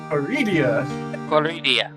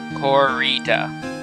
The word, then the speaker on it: Corrida: That was me repeating what you had said. It's not the correct pronunciation. Don't learn that one. Stop. Corrida. Yeah, there's no I after the D.